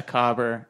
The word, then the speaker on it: cobber: A cobber. That's like a cobbler, like a shoe cobbler. Yeah, they just they pronounce just dropped it the L. Yeah. That's very big in Australia. They dropped the L and made it a second B.